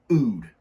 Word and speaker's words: oud: for the most part that's called Ood you spell it oud it is agarwood that's